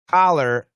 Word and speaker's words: collar: is a short u and collar oops uh collar i can't spell at all uh is a short o so uh cop and